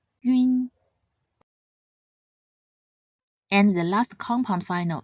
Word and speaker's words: ün: Next, yun. Yun is a nasal final, so start by sounding the simple final yu before closing into an n sound. Yun, yun.